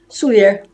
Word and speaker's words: Souliere: Souliere. Please pronounce.